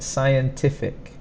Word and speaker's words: scientific: So first, scientific. So sci is pronounced as if it's just an S, but the spelling has a C there.